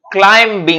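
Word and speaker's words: climbing: ওই বন্ধুদের সাথে একটু ক্লাইম্বিং এ যাব আরে actually it ইজ ক্লাইম্বিং নট ক্লাইম্বিং এখন দেখ এম এর পরে যদি বি থাকে তাহলে বিটা সাইলেন্ট হয়ে যাবে তাই ক্লাইম্বিং নয় ক্লাইম্বিং যেমন হচ্ছে পি এল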